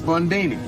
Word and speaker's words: Bondini: say your name is bondini rhymes with houdini yeah except that don't